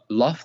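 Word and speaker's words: لفظ: So let me teach you how to say it. Lafz.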